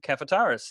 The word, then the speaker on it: Kafataris: Cohn cafe terrace if how i pronounced it right yes David you have well done it's spelled exactly the way it sounds that makes it easy